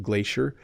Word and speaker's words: glacier: have a glacier so notice how I'm saying it Glacier I pronounce it with an sh sound Glacier a glacier can be